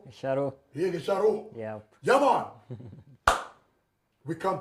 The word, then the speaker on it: Gicharu: Let me say it like a Kikuyu. Gicharu. Shadow. Here, Gicharu.